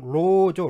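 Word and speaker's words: 勞: 정확한 발음은 로죠, 로. 이게 단어의 맨 앞에 오니까 이게 노라고 발음이 되는 거죠.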